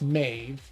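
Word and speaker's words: Maeve: Uh, Mave is pronounced Mave or me. It's one syllable Irish name of Gaelic origin from mob or Yeah,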